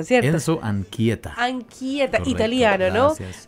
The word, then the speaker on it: Anchieta: Enzo, ayúdame a pronunciarlo, Enzo Anchieta, ¿cierto? Enzo Anchieta.